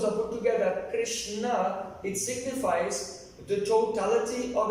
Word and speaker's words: Krishna: So, in Sanskrit, so the word charisma comes from Krishna. Entonces, en sánscrito la palabra carisma es Krishna. So, it has two syllables, Krish and Na.